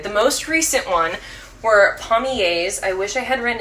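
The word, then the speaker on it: palmiers: The most recent one were pommiers. I wish I had written it down. Pommier is spelled P-A-L-M-I-E-R-S.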